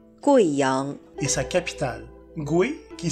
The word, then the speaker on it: Guiyang: Veuillez noter que, dans le nom de cette province et de sa capitale, le « U » plus le « I » se prononce « Wei » et non pas « Oui ».